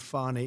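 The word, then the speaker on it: Fani: you very unfairly go she goes by the name of fonnie even though it's F A ni I she wants to pronounce funny she's little little French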